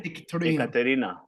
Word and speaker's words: Ekaterina: You don't say it properly though. Well, how do you say? Do you want me to say it for you? Ekaterina. Ekaterina. Ekaterina. There we go. With the Italian.